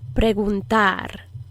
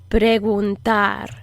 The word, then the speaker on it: preguntar: a question is preguntar preguntar this is a soft g just like there's a soft d and a hard d this is a soft g so it kind of blows air out a little bit in the back of your throat you approximate the back